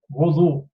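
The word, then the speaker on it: وضوء: और वुदू जो correct pronunciation, very correct pronunciation है, वो ये है वुदू, वुदू. ओके, तो ये बच्चों को शुरू से आप सही प्रोनाउंसिएशन सिखाएं, वजू के बजाय बच्चे वुदू कहें.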